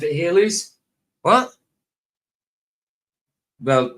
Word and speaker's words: Halley's: But they just pronounced it Halley's. What? Well, to me it was Halley's, like Bailey's, the drink, but with an H.